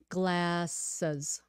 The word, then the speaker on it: glasses: Joy what is this G is for glasses glasses glasses says glasses don't change it into an sh sound okay glasses glasses glasses